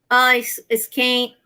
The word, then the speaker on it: skein: I got the 4 skein. I can't say this word today. Yeah. That one very Brazilian. Skein. Skein. Yes. Because we put an E before any the skein.